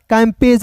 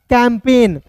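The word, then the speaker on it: campaign: आई जी एन तो इसे पढ़ेंगे दोस्तों कैंपेन कैंपेज नहीं पढ़िएगा दोस्तों इसे क्या पढ़ेंगे कैंपेन सी ए एम तो सी ए एम को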